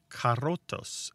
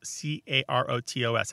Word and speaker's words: carotos: And in this book, they talk about a word from New World Spanish, carotos, C-A-R-O-T-O-S. I guess I shouldn't have trilled that R. It's carotos.